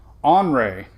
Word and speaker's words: Henri: It's not going to be pronounced Henry. It's going to be... Well, they have a pronunciation guide on... let's see what... Because they tell you how to pronounce it. Let's see. Oh, you're right. It's Henri. Well, look. You can see right here. It's Henri. It's not Henry. It's on. So Hurricane Center saying it's Henri.